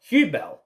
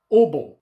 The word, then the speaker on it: Hubel: You say hotel. Hence, Hubel. But here's where the German comes into it. In Germany, they pronounce it Ubel or Heubel, or there's different variations of way of explaining it.